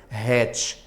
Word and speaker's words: hatch: Aí você pronuncia o H é aspirado, hatch.